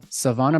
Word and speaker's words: Sevonna: thank you all right Savannah welcome first off am I saying your